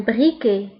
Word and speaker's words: briquet: ولاعة un briquet un briquet un briquet. فبالنسبة للبريكي تكتب بالتي ولكن لا ننطقها تكتب بالتي في آخر الكلمة ولكن لا ننطقها.